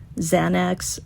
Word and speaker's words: Xana: Did you guys know that Xana used to tell people that the way to pronounce her name was like Xanax minus the X, Xana?